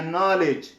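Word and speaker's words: knowledge: نو ځکه چې نه مخکې ده یا نایف یا نو یا نالج، په دغه ټولو کې مثلا دغه کې نه تلفظ کېږي.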